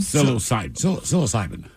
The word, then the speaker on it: psilocybin: Psilocybin? Psilocybin.